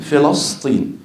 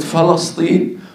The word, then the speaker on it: فلسطين: ينطق فلسطين بطريقه خاطئه النطق الصحيح بكسر الفاء و فتح اللام وسكون السين فتقول فلسطين ليست فلسطين وليست فلسطين وهذا من